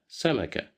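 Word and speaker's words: سمكة: Here we have fatha at the top of the letter sin. So we will pronounce it as sa. We didn't pronounce it as su or si because we have no dhamma, we have no kasra. This time we have fatha. So just listen to me and repeat it again. Sa, samaka. Samaka, samaka.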